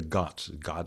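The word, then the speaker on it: ghat: Ganga the Ganges river the got is spelled G H A T and there are these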